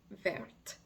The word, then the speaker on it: vert: more than one thing it will sound like vert so again the S is silent but the masculine will sound like ver